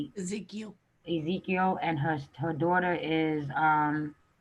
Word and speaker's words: Ezekiel: Ezekiel.